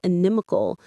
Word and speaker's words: inimical: The stress here is on the second syllable, inimical. It feels a little strange in the mouth at first, doesn't it?